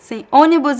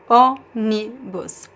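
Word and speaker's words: ônibus: I say onibus is closed and also nasalus. Onibus. Onibus. And we have the graphic accent um in the first O the um circumflex.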